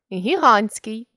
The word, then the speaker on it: гігантський: від іншомовних іменників над т Турист туристський гігант гігантський баласт баластний компост компостний контраст контрастний Форпост Форпост